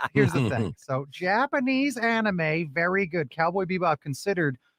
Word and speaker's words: anime: Because you know Amni. Did I say it wrong? Anime. Anime.